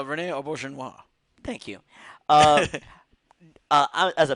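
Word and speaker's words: René Auberjonois: oh my god odo um okay I'm gonna butcher the actress named Audrey Dubois rene auberjonois thank you uh as a baseball fan it's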